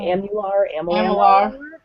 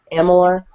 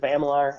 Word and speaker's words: Amalur: I always say it wrong. Amular. Amalur, whatever.